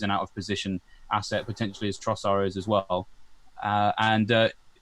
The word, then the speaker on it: Trossard: We've been saying Trossard. Apparently it's Trossard. There's no D.